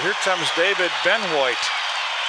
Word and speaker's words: Benoit: B-E-N-O-I-T, pronounced Benoit.